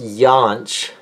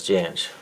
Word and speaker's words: Jansch: It's pronounced Jansh in Germany, where his family's from. His family moved from Hamburg, Germany, up to Glasgow. And, yeah, but they say Jansch, I guess, in Scotland.